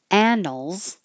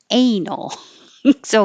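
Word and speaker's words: annals: chronicle chronicle and then the very important difference between anals and anal so be very careful anals is like a Chronicle um a written down report of what happened so you want to have the a the vowel is the short a sound a as in hat anals this one you need the a as in hey anal so very different attack attack this T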